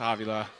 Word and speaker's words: Avila: I'm like, "It's pronounced Avia."